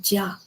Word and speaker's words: 家: The character itself is pronounced jia, jia.